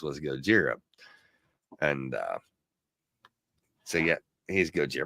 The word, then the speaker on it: Gojira: Of course, anybody who's a Godzilla fan was what the first pronunciation for Godzilla was Gojira.